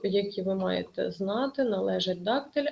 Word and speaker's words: дактиль: можна за наголосами у у слові дактиль наголос падає на перший склад відповідно дактиль трискладова стопа